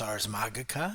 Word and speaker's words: Ars Magica: get my head around more classical Latin and pronouncing these things. It's Ars Magica and it's Magi, and secondly, because like I have such a headcanon when it comes to World of Darkness.